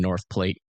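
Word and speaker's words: North Platte: Like, do we have anybody from North Plate, um, Stapleton, Tyron, Mullen, Nebraska in chat right now? Well, it's technically uh pronounced North Plat.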